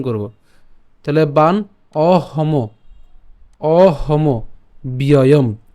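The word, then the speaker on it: অহমব্যয়ম্: তাহলে বান অহম অহম ব্যয়ম অহম ব্যয়ম, ঠিক আছে। তো আমরা এখানে অহমব পর্যন্ত উচ্চারণ করতে পারি, অহমব, এবং জফলার থাকার কারণে আমরা জানি জফলাটা কার মতো উচ্চারণ হয়? ইয়র মতো হয়।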